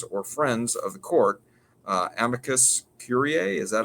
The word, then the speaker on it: amicus curiae: Amicus curiae. Is that how you pronounce that?